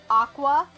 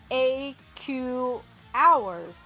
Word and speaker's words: Aqours: it was, it's a portmanteau of the words aqua and hours, right? So, Aqua. And Chica pronounces it AQ hours, the way it's spelled.